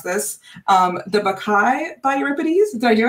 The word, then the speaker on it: Bacchae: So this is a brand new piece of theater based on, I'm going to try and pronounce this, The Bacchae by Euripides. Did I do it? Yeah, The Bacchae.